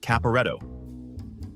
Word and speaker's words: Caporetto: I think it's pronounced Caporetto.